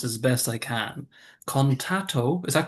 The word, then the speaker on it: Contatto: So, what is, I'm going to pronounce this as best I can, Contatto, is that correct? Contatto? Contatto.